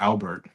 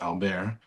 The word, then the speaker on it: Albert: More notably, this little nugget named Albert, spelled like Albert, but is they're French, so it's Albert.